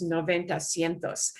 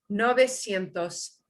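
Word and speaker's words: novecientos: and you know because because you know noventa it's easy for that to interfere with the new number and how it interferes is noventa sientos that's and and that is a normal thing for your your brain is looking for a pattern but we cut it down to the short nove nove nove sientos pentitres no besientos betitres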